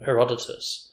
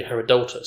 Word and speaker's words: Herodotus: the fact like like all my life i've been pronouncing um herodotus apparently it should be herodotus so even like the